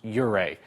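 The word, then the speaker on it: Ouray: the emailer says cuz I've heard you properly pronounce uray try our best we don't get them all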